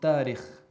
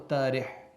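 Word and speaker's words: تارخ: So likewise, if you look at Ibrahim alayhi salam's ancestry, his genealogy, it's Ibrahim ibn Tarikh. Tarikh or Tarih, just depends on how you say it.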